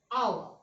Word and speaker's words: hour: It is because when we pronounce these words, H is silent. So vowel sound comes like hour.